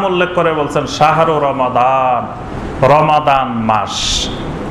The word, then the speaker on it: রমাদান: শুধু রমাদান মাসটি এমন একটি মাস আল্লাহ পাক এটার নাম উল্লেখ করে বলছেন শাহরু রমাদান, রমাদান মাস। আমরা এটার রমজান মাস বলি, কিন্তু শুদ্ধ উচ্চারণ হলো রমাদান, শাহরু রমাদান।